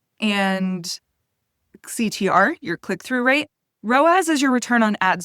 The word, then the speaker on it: ROAS: Another acronym that we hear a lot in the ads world is ROAS. It's spelled r o a s, and it stands for return on ad spend.